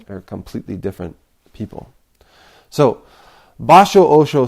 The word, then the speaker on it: Basho: But in Japanese, it's Basho Osho. And this is not to be confused if you're poetry buffs with Basho the poet. They're completely different people. So Basho Osho said to his